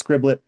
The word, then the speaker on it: Scriblit: It's just 2 syllables and it's repeating that short I sound, which I think makes it fun to say.